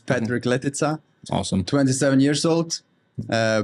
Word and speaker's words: Letica: name is you you said it right Patrick letia awesome 27 years old uh born and grew